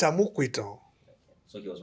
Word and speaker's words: Amupitan: And the person who said it didn't grow in Lagos, so yeah, No, it's Amupitan.